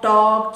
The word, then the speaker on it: talk: If L comes between A and K, L is silent. Walk, talk, chalk, etc.